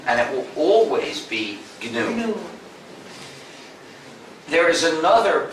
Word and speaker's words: GNU: Please pronounce it GNU. If you pronounce it new, you'll get people confused.